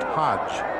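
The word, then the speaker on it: Hoge: Hodge spells his name H-O-G-E, but it's pronounced Hodge.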